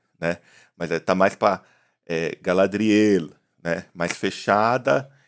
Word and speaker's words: Galadriel: Eu, inclusive, tenho tido mais cuidado na pronúncia, porque assim, o português ele abre muito as sílabas finais, as vogais nas sílabas finais, né? Então a gente fala Galadriel, né? Tem essa oxítona no final, né?